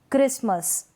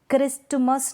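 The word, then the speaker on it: Christmas: क्रिसमस, क्रिस्टमस नहीं पढ़ेंगे, क्रिसमस।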